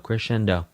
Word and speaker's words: crescendo: Crescendo, diminuendo, again with the Italian. Here we go. So, crescendo is cendo. Diminuendo is dimminuendo. Dimminuendo dimminuendo. Crescendo. It's technically to correct it. It is technically correct to pronounce multiples of crescendo as crescendi and multiples